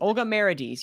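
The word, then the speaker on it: Olga Merediz: it's oh i think it's yeah melodies meredith olga marades yes thank you olga mary d's um uh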